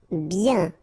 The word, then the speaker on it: bien: bien. Okay, so remember, when you get this combination of I-E-N, you get the sound yen, yen, okay, and then B. Bien.